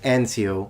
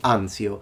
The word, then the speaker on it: Anzio: american we say salerno he says ancio we say anzio so no it he